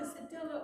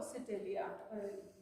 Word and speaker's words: sedilia: That's either Sedilla or Sedilia. I've heard it's pronounced both ways.